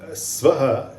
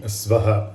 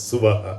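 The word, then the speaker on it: स्वाहा: is essentially what the swaha actually means many people mispronounce it as suva which is incorrect it is you would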